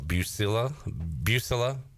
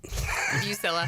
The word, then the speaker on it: Buccilla: So, talking ECU women's soccer with the new head coach, Buccilla. You said it right the first time. Buccilla.